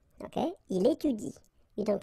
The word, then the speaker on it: étudie: pronounce it like il étudie. Okay, so the last thing that you will pronounce will be the vowel I here. Okay, il étudie.